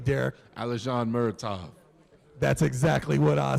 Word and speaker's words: Alizhan Muratov: Alizhan Muratov.